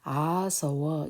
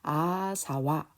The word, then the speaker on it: āsava: 그래서 정확하게 아서워 이래 하든지 아니면 아사와 이렇게 211 이렇게 발음을 조금 뒤에 것은 빨리 해서 구분을 했으면 좋겠습니다.